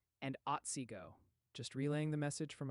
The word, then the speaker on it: Otsego: They're saying it's pronounced Shiawassee and Otsego.